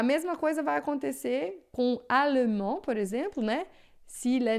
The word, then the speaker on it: allemand: Geralmente, olha só, a gente tem um D final, um S final que a gente não pronuncia, né?